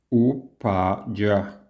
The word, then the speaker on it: Upaya: En la pronunciación sánscrita sería más o menos lo siguiente. Upaya.